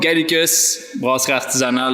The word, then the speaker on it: Gallicus Brasserie Artisanale: So overall, Gallicus Brasserie Artisanale, that's how we say it properly here in Gatineau.